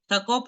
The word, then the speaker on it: Jacob: Jacob en hebreo es más pronunciado como Jacob.